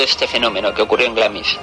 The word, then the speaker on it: Glamis: como en el castillo de glamis pronunciado glams y teniendo lugar en